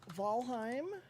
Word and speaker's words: Valheim: so the server is going to be it's valheim i think i'm pronouncing that right jolene yes i own jolene.g